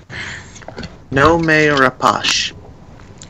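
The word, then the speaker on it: Noomi Rapace: So my choice, Numi Rapace, because she needs a good role. Yeah. Nome Rapace is basically how you pronounce it. I just listened to the pronunciation thing.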